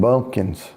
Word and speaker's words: bumpkin: but red clay and bumpkins. That's what. That's it. Nothing here. Bunch of. I digress. And you know what a I bumpkin is? It rhymes with pumpkin, but it starts with a B.